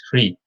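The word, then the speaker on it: ਹ੍ਰਿ: Rara pair which hai, it's a subscript, so there's no a silent there, mukta. It's pronounced as Hri.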